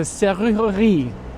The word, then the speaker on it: serrurerie: It's a serrurerie. Serrurerie. So you really get a workout there with the R's, the letter R in the back of your throat.